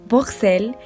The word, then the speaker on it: Bruxelles: Hay 3 maneras en que sus habitantes pronuncian su nombre. En francés, Bruxelles, en neerlandés, Bruxelles y en alemán, Buchse. Y es que estos 3